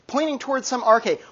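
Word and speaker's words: arche: it's a Greek word starts with a and rhymes with park' yes Cameron okay yeah good right so they're all like pointing towards some RK 1 RK a single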